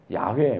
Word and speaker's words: 야훼: 근데 이 I am who I am, 요트의 바브에, 이걸 우리 흔히 여호와라고 발음을 하는데, 야훼, 뭐 요즘 이렇게 발음하는 게 옳대요.